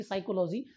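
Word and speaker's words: psychology: तर एक काम करा फक्त पी चा उच्चार करू नका आणि सायकॉलॉजीचं जे काही स्पेलिंग आहे ते या ठिकाणी एस वाय सी एच ओ एल ओ जी वाय असं या ठिकाणी तुम्ही काढू शकता आता सेकंड पहा निमोनिया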